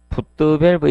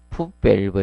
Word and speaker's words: 풋밸브: 굴곡부는 최대한 적게 해주는 게 좋고, 그 다음에 4번에 흡입구 풋드밸브 있죠? 자, 이것을 앞전에 쓰신 분들이 있으면 이렇게 해네요. 정확히 발음 쓸 거예요. 풋밸브 이렇게. 원래 발음상은 이 풋밸브가 정상입니다.